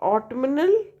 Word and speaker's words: autumnal: However, we put n, but in autumnal or b in, so that is autumnal, right? Here n sound is pronounced, or b in bomb, but bombard, so that's a bombard, right?